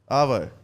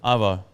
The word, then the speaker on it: arvo: __ ] up arvo arvo arvo you're going too hard on the AR just get aa aa yeah Ava yeah AA okay but how are you